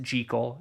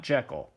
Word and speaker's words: Jekyll: louis stevenson stated that the name is actually pronounced jekyll and not jekyll the film stars dennis dimarn and julia stratton